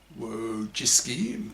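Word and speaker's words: Wojcicki: you YouTube Susan Susan W jisy pronounced wo as in woe as me and jisy as in frisky who created this policy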